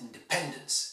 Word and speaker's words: independence: The English word for independence is independence, not independency, and you must pronounce it independence. It's stressed on the third, dependence, okay?